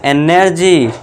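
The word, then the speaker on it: energy: ज का साउंड करना है ना कि गा। ठीक है दोस्तों? तो ये क्या होगा? एनर्जी।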